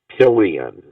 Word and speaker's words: pillion: i had the word pillion p-i-l-l-i-o-n which you know rhymes with millions right yeah for trillions